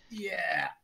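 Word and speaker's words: ja: Yeah.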